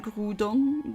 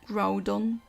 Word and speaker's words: Groudon: myself I I mean I've grown up saying Groudon but that's because the French and the I think the German anime and games at times also pronounce it that way but the English speaking people usually said Groudon both work I'd say the thing is in